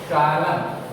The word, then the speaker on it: solemn: Pronounce it SOLEMN. SOLEMN. सोलम, इसका pronunciation होता है सोलम।